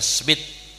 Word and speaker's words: Smith: bin Ibrahim bin smitth atau sumed bacanya sumet ya cuma Indonesia Smith Habib Zain bin Ibrahim